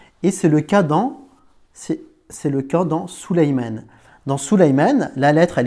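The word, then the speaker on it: سليمان: Salomon en arabe, cela se dit, on ne va pas dire Salomon, on va dire Souleymane.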